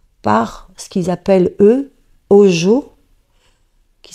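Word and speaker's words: hózhó: qui est maintenue par ce qu'ils appellent eux au jour qui s'écrit h o Z h o et qui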